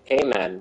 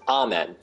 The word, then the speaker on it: amen: And I incorrectly say amen, because that's how I pronounce it. He's like, no, it's amen. I'm like, ah, okay, amen.